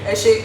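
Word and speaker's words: Ẹ ṣé: And in Yoruba it's Eshe. Eshe? Eshe.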